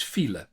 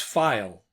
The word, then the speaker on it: file: Like the the word the word for traffic jam in Dutch is fel. But they pronounced that as file.